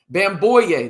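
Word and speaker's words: Bamgboye: Bamboo. The G is silent. There you go. Is entering the transfer portal. He is a former four-star recruit. Is Bamboo.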